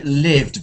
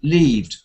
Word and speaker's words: lived: called offal court yeah now i'd like you to just say lived because um we know that sometimes if we don't make the short e e change we end up with another word always it seems to happen every time so uh you can people can misunderstand you so it is an important thing it could be leaved and but lived very thanks the house which